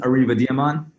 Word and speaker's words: Ariv Adiaman: man I'll say it Adie mine and awesome kasam I'm gonna butcher the last name Siddiqui how you guys say it say it correctly so my name is Arriba demon and I'm Qasim city nice there we go